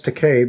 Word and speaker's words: Takei: now um george takei i know it's takei because he gave a speech at the roast and say he said it's take it rhymes with toupee said that to shatner